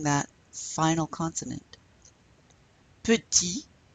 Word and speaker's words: petit: Petit, you don't pronounce the T there. Petite, petite.